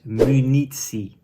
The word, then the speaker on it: munitie: That is munitie. So the first two letters, mu. So it is the M and the U is pronounced mu.